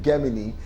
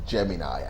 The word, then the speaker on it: Gemini: So if you are from the UK, you will say Gemini. If you're from the United States, it's Gemini. I feel that's the way it's been pronounced.